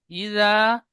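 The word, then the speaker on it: إذا: তবে এখানে ইজা, ইজা, এই জালটি জিমের মতো উচ্চারণ হয়ে গিয়েছে, তারপরে যা, এই জাল আর জিম দুটি অক্ষর একই রকম উচ্চারণ হয়েছে জিমের মতো।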